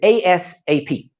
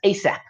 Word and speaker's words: ASAP: So the first one is ASAP. And sometimes this is actually pronounced as ASAP, as soon as possible.